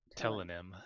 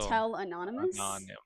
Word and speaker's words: Tellonym: um telonym telonym question I'm not sure how to say it I just call it t it's like pseudonym because it's like T Oh I thought of it as like Anonymous oh it's still tell anonymous yeah telonym yeah I